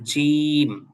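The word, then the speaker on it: ج: এরপর হলো জিম। এই অক্ষরটা হলো খানিকটা ওই যে আমাদের বাংলা ভাষায় যে বর্গীয় জ আছে ওইটার মত জিম একটু ভর দিয়ে উচ্চারণ করতে হবে জিম। এরপরেরটা হল হা।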